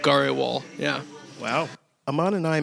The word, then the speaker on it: Grewal: grindle wall like um it gets it gets GRL I've been called GRL before um it's just the way I guess it's spelled yeah it's it's like should sound like